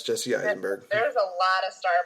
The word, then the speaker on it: Jesse Eisenberg: Yeah, it's Jesse Eisenberg.